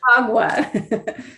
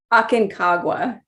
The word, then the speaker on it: Aconcagua: I'm having a hard time trying to pronounce the name. Aconcagua. Was it? Aconcagua. Aconcagua.